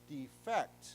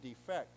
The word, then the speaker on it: defect: when we said to defect, okay? The accent is here, to defect. But if it means a problem or a flaw, then we say defect, okay? We pronounce it differently.